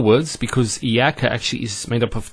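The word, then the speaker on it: إِيَّاكَ: Iyaka. Notice the ya gets a double vowel because of the shadda there.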